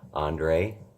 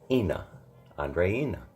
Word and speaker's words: Andreina: It's Andreina, Andreina, Andreina, Andreina, yeah, just like that, and and the way that I remember that is just with the name Andre.